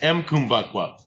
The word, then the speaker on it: Mbukwa: And is that spelled with, do you pronounce the M or do you not pronounce the M on Kumbakwa? Yeah, pronounce the M. So it's M Kumbakwa or Yep.